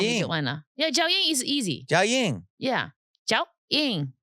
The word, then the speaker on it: Jiaoying: I said, you make me pronounce cappuccino, honey. Like. So she's couldn't say Jiaoying. Jiaoying. She wants to call me Joanna. Yeah, Jiaoying is easy.